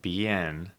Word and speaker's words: Behan: Jordan Behan.